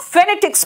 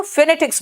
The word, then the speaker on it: phonetics: देख ले, जो हम फेनेटिक्स में देख रहे हैं। बेटा देखो फेनेटिक्स बोलते हैं, फोनेटिक्स नहीं बोलते।